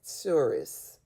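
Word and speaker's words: tsuris: And then Jeffrey Epstein responds to that and says, and I thought I had tourists.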